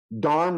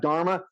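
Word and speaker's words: धर्म: the ASA for me most of the words with the a after the end of the aspirated a is a British British affectation of when they colonialized India which they kind of Miss they change everything around so it's actually yog it's actually Karm not karma dharm not Dharma some words do have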